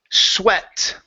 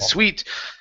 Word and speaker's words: sweat: go to the word sweat okay this world with an A in the middle is sweat yes you said sweet sweet is like that sweet good for your